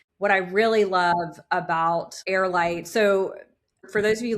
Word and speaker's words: HeirLight: I really love about Airite, so for those of you listening and watching, it's really heirlite is a and it's pron it's spelled h e i r. So like the air.